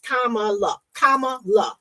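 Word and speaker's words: Kamala: more about her um for those that can't pronounce her name it is kamaa K La that's how you say her name um my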